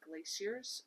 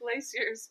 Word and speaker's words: glacier: The interesting one was she was super into glaciers when she... What on earth? I'm saying glaciers because that's how they say it in England, and I listened to the audiobook, and that's how she says it.